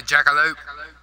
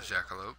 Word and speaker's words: jackalope: to pronounce right now I think it's called a Jackalope a jack no not a jackal Lantern it is a jackalo those are the things